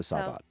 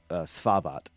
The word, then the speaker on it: Svavaht: The Samje or the Savat? Savat. It's Svavat, and it's I've been pronouncing it wrong. And it's on the map, but it's SVAVAHT Reach.